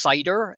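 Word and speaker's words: SyH-DR: data for research um the acronym is pronounced cider as in apple cider um and this database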